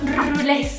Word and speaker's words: Rulés: tiene un acento en la E al final. Los rules.